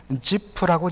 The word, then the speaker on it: 지프: 히브리어로 보면 지프라고 되어 있습니다. 그러면 지프 사람이라고 번역하면 되는데, 성경을 이 100몇십 년 전에 한글로 번역하면서 히브리어나 헬라어를 그 당시 이 중국 사람들 한자 발음하고 유사하게 자꾸 써다 보니까 발음이 불명확하게 된 성경의 지명이라든지 인명이 허다합니다. 지프라고 발음하면 전혀 문제가 없습니다.